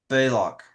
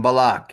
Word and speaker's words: Balak: He was tempted by money from Balak, right? Yeah, from Balac.